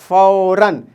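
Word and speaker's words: فوراً: तनवीन में क्या होता है कि वर्ड के आखिरी लेटर पे अगर दो ज़बर डाल दिया जाए तो हम वहाँ पे नून की आवाज़ के साथ प्रोनाउंस करते हैं। किसकी आवाज़ के साथ, नून की आवाज़ के साथ। जैसे फे वाव ज़बर फाव, रे दो ज़बर रन, फौरन। यहाँ देखें, यहाँ नून नहीं लिखा हुआ है, लेकिन हम प्रोनाउंस करेंगे नून, क्या हो जाएगा, फौरन, फौरन, फौरन।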